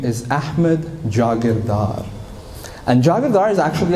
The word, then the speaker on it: Jagirdar: Nobody's got my name, nobody has my name, Jagirdar. People can't pronounce it, Jagirdar, Jagirdar.